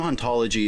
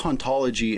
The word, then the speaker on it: hauntology: In the original French, the age in haunt is silent, and therefore both hauntology and ontology are in fact pronounced the same.